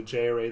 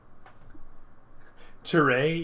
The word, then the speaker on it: JArray: Jarray? You pronounce that as a single word? That's gross. No, I say JArray, but Jarray is funny too.